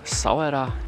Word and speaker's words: Essaouira: Jesteśmy w mieście Essaouira, albo niektórzy wymawiają to Sawera, i jesteśmy tu nie tylko po to, żeby zwiedzać, ale też po to, żeby wyleczyć Monikę.